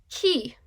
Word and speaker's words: key: Key. He got the key to his new house. Remember not to write an I above the Y when it is an adjacent vowel because the Y is silent.